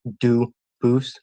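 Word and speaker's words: Dubois: They do pronounce it dubis, but you said you pronounce it dus as the original duboose as the original French.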